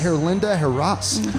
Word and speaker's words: Herlinda Heras: beer judges and uh radio personalities uh miss herlinda harass um thank you you actually say my name